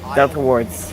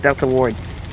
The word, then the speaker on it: Delta Wards: That's not how you say my name. Okay. Delta Wards. Wards. I say with an S. Not There's- word. There is an S in there.